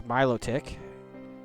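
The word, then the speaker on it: Milotic: Got Charbach, Ariados, Ray Bomb, Miloic, and yes, it's Miloick. If you don't believe me, go play the new Pokemon Snap. That's how it's pronounced.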